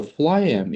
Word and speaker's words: phloem: Okay, so phloem is Mhm. starting with the F, right? The pronunciation PH is F.